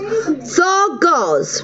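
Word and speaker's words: Dagaz: The final Ruin card for Sagittarius is October is pronounced Thargoz, meaning dawn or daylight.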